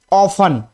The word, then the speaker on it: often: तो OF को हम उच्चारण करते हैं ऑफ, TEN को उच्चारण करते हैं 10। लेकिन जब ये दोनों शब्द एक साथ जुड़ जाते हैं OFTEN, तो ये क्या बन जाता है? ऑफन।